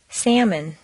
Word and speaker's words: salmon: all right almond five although almost always six salmon arms albany seven folk polka before reading about